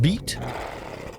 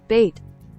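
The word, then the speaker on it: Beit: How do you say that? Beat? B-E-I-T. Let's try and see. So, detect language. B-E-I-T. Biet, English. Bait. Bait. Bait. Apparently the word is bait. Yeah, apparently it's bait.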